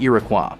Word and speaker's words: Iroquois: until 2552 when he was transferred to the Iroquois a halberd class light Destroyer to serve as